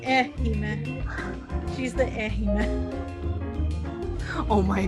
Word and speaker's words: Ehime: Ehime? Like Hime, like princess? But with an E in front, yes. Okay. That's like the princess who's boring, like Ehime.